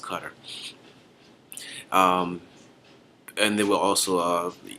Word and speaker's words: Qatar: And this particular country I'm talking about is actually Qatar, but it's pronounced Qatar.